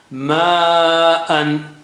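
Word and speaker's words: ماءً: But you have to stretch it 5 times when you see that sign, especially with a kink there, with a tip there at the end. So, ma'an, ma'an.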